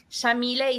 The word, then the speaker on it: Yamile: he named me so Shamil is an Arabic name pronounced with an Argentine accent we say they white like an sh and then is